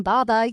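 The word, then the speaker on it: 爸爸: The pronunciation Baba uses a falling tone repeated twice like a child's confident, trusting call to their father.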